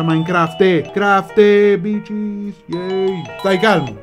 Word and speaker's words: Minecraft: Si pronuncia Minecraft.